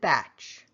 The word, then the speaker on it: Bach: there would have been soft and guttural like the composer but apparently the English